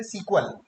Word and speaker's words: SQL: Pronounce कैसे करते हैं? सीक्वल, या फिर आप SQL भी बोल सकते हैं।